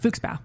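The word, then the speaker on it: Fuchsbau: Yeah, because I can pronounce that. Yeah, you got Not Blutbad. Blusenblubber. What's the fox ones? Fuchsbow.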